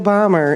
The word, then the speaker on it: Bomer: My name is Bomber, and it's spelled.